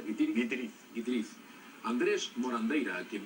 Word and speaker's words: Guitiriz: Guitiriz es ¿cómo se pronuncia? Guitiriz.